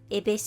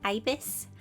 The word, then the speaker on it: ibis: i'm saying it right many of you said abyss paint wasn't correct and that it's ibis so yeah if you